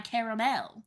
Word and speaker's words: caramel: to Target to get my caramel. To get your caramel. But the 3 syllables, caramel, is much more south and east coast, Yeah. while caramel is mostly everywhere else. Everywhere else.